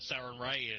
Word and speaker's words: Sarenrae: There's the Temple of Sarenrae.